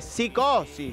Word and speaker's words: Psicosis: iba a presentar digo la p se pronuncia o no se pronuncia Eh sí se pronuncia cómo sería correctamente eh No en sí no no psicosis psicosis sí del 94 más o